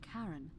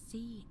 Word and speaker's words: Charon: The name you heard wasn't Karen. It was C-H-A-R-O-N, as in Charon, the ferryman of the dead.